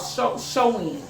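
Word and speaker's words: Samhain: And how it started off is they seen it's called Shoin. It's not spelled like it sounds, but it's called Shoin. Shoin is this demonic god who is the god of the dead, and they worship him.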